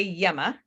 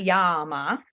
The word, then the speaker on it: Yama: So say Yama. It is not Yama. Because if it was Yama, if you look at the word, if you have the book, it's Yama.